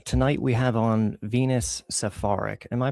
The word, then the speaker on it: Saffaric: Uh, tonight we have on Venus Safaric. Am I pronouncing that right? Is it Safaric? I say Safaric, but I really don't mind how you how you pronounce it.